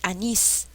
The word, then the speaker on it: anís: de voz y sin anís es la mayor fuerza de voz significa que es una palabra aguda pie anís es aguda se tenga o no